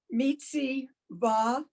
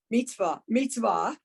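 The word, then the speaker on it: מצוה: Mitziva. Okay, remember the shva, the 2 dots is silent. So So- mitz. Yeah. Mitzvah.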